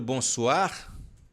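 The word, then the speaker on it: bonsoir: é por mua e aqui o oó e o i a gente pronuncia o a lembra do bons suar bons suar então bons suar o o e o i você fala o a bons suar Não tem de que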